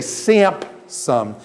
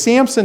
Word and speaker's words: Samson: Samson when I say how many of you say samp some and put a pea in your Samson does anybody put a pea in their Samson that's actually you guys are working from the Greek Septuagint you didn't know it is Samson named gotta pee in